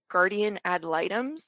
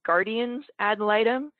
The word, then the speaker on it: guardian ad litem: by saying that um i've always pronounced it guardian ad litems and i recently learned that it's actually guardian's adoletum so please excuse me